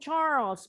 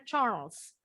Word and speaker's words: Charles: baca dulu ceritanya and Charles bacanya Charles kalau kita nyebutnya Charles tapi bahasa Inggris bacanya bukan Charles Charles kayaknya hilang kayak